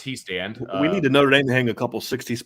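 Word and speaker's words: Hiestand: he says Harry he stand and it is pronounced he stand we need to Notre Dame to hang a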